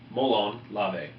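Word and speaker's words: μολὼν λαβέ: We also use the motto, "Come and get them," in Greek, pronounced molon lave.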